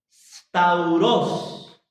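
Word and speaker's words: σταυρός: Stauros. Y significa cruz. Ellos lo alteraron. Stauros, con acento en la O. S-T-A-U-R-O con acento S.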